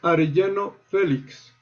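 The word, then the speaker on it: Arellano Félix: And finally, the cartel is pronounced Arellano Felix.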